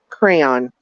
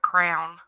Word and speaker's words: crayon: Darlene, I pronounce it crayon. Man, I was, at least it's not crown. Yes, some people call them crowns. Crown, crayon. I say crayon.